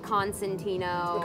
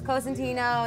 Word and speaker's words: Cosentino: How do people pronounce it in the States? Like Constantino or Corsentino. Right. And then they spell it like Consentino, and like All right. they always fuck it up. So I was like, it's Cosentino, it's spelled this way.